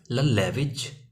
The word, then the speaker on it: lullabies: ललबैविज, लल्लैविज, लल्लैविज means लोरियाँ। LULLABIES, लल्लैविज। क्या pronounce करेंगे इसको?